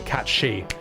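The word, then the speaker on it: cat sìth: Catsith is Celtic folklore, so Irish nibble would be appropriate. The problem with cats Sith is because the word catsith or cat she as it's pronounced is the Scottish indigenous language for fairy cat.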